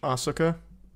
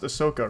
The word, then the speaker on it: Ahsoka: when it comes out am I gonna watch Asaka I don't know why I say it like that it's pronounced Ahsoka right Ahsoka Tano I'm